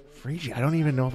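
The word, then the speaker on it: Phryge: that's how it's spelled it's pronounced frii frii I don't even know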